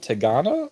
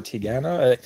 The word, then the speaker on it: Tigana: Okay, so this book is called Tigana or Tigana. It depends who you talk to. They might pronounce it differently.